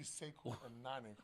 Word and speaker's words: Sequo: When I first say his name from Match Express in New York, it's actually Sequo.